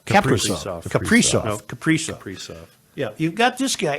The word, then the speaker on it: Kaprizov: But you've got a wonderful Wild team with an exciting superstar player in Kasparov. How do you say his name? Kaprizov.